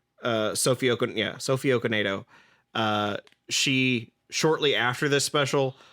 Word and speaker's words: Sophie Okonedo: It's worth noting that Sophie Okonedo, I believe I pronounced that right. Sophie Okonedo.